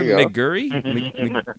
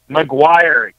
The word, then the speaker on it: McGuire: Elijah McGurry. McGurry, right? McGuire. McGurry? Oh, I didn't see the I. Elijah McGuire. It makes sense now. Vowels. McGurry. Vowels are helpful for pronouncing names.